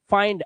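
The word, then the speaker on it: find: इसलिए पढ़ा जाता है, जब आई के बाद एनडी या एलडी आएगा तो आई का उच्चारण आई ही करना, जैसे माइंड आई के बाद एनडी, फाइंड आई के बाद एनडी,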